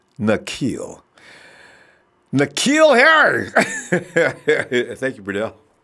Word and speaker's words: Nzeocha: in and corrected me it's nille like Shaquille but without the Q sound it's nille nille Harry thank you